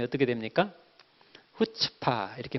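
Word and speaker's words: חוצפה: 앞에 스 2가 모금 이에요 발음이 어떻게 됩니까 후 측 파 이렇게 발음이 되자 끝집 타 되게 히브리어 기 때문에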